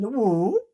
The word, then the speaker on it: 武: How come it's pronounced as "wǔ"?